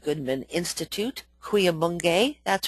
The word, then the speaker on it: Cuyamungue: Goodman Institute, Cuyamungue, that's pronounced, where workshops are held pretty much through